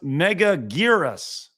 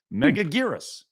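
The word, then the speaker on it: Megaguirus: But thank you, Megaguras. Thank you, Hayden. Appreciate your support, my dude. Godzilla's Grecia says it's pronounced Megagirus.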